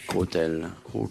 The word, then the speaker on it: cautèle: Ça s'écrit C-A-U ou C-O? C-A-U. Côtel.